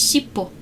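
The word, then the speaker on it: shippo: The name of the design is shipo and the Japanese pronunciation of tail is shipo spelled with different kanji but if you spell them with hiragana they are they are the same.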